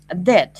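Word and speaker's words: debt: uh the first um Deb you know this word de it's it's um MH uh pronunciation is Deb Deb de without B without B you don't pronounce b just Deb Deb it's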